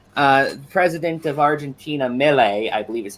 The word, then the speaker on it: Milei: Yeah, so yeah, they did a whole sketch about how President of Argentina, Milei, I believe is how it's pronounced. Javier Milei.